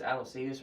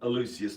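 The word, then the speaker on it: Aloysius: Is that not a cool You sure it's Aloas or Elucius? It's Aloius. And I I was pronouncing it Elucius, but it's Aloas.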